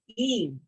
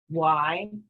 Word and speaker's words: y: and is the word Eve which I've heard all sorts of different pronunciations for the letter Y which means and and it's e like e but shorter e okay we don't say why we don't say la